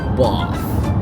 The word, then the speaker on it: Bath: apparently medyo nacor ako hindi pala bath ang dapat na pronounciation non eh dapat daw eh bath is that correct bath ganon daw dapat ng pronunciation So pupunta tayo sa